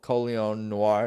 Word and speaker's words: Colion Noir: that's that's interesting to hear you talk about coleon Noir that's how you say his name yeah right